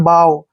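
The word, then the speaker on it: bough: नहीं पढ़ना है बग भी नहीं पढ़ना है बाव बाव मींस होता है जैसे पेड़ की टहनी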